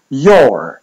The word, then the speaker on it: your: I tu widzimy dobry przykład, że to OU już w słowie your wymawia się jako długie O.